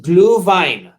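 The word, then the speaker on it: Glühwein: the christmas season and it's actually pronounced blue vine and what it is yes uh gluhwein and what it is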